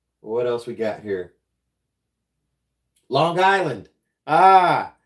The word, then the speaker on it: Long Island: else we got here Long Island ah did I say it right Long Island they say it in one set one word it's not two word Long Island yeah hundan